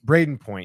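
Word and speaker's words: Brayden Point: Isn't it Braden? Braden Point, yeah, not Brendan Point.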